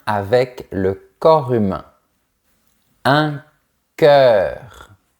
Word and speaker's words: cœur: Un cœur. Ce son est un peu difficile. Il faut faire le son est mais avec la bouche verticale. E. Ensuite, on prononce bien le R à la fin.